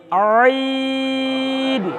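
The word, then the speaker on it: عين: তাহলে এই অক্ষরটি কণ্ঠনালীর মাঝখান থেকে একটু চাপ দিয়ে তাকান তো, ঠিক এইভাবে আই আইন।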